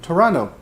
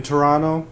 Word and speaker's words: Toronto: will say welcome to Toronto no t 0 2nd T 2nd T is silent I watching Toronto Raptors